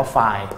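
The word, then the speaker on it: φ: ก็ อ่าน ว่า ไล บาง คน ก็ อ่าน ว่า ฟี แต่ พี่ ขอ อนุญาต อ่าน ว่า ไฟล นะ ฮะ Delta f คือ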